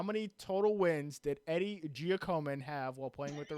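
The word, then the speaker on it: Giacomin: total wins did eddie jockoman have while playing with the rangers wait are you sure about that pronunciation no i i think it's giacoman eddie giacoma how are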